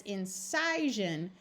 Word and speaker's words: incision: Notice that this one is an I, and it's an example of a word where the I takes on a short I sound rather than an I.